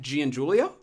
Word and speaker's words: Giangiulio: Matt Giangiulio. Damn close. There's a couple. What is it? What did he get wrong? So, all right. So, in Italian, Gian is pronounced Jean, not Giangiulio?